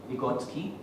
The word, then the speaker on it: Vygotsky: I believe it is pronounced as Vygotsky, seems to be a Russian.